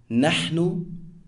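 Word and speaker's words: نحن: We, pronounced nahnu, and I, pronounced ana, as nouns.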